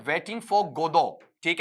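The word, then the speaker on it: Godot: तो एक नाटक का नाम दिया, नाटक का नाम है वेटिंग फॉर गोदो, ठीक है। यहां पर टी को साइलेंट रखना, गोदोत ऐसा नहीं पढ़ना है, वेटिंग फॉर गोदो ऐसा पढ़ना है।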